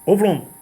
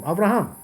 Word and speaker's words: Avraham: So when you go like that, right, you're saying the wrong way. These pronounce medrash. What medrash? What is medrash? What does that mean? Ovrom. What Ovrom? Avraham. What are you talking about? What language is that?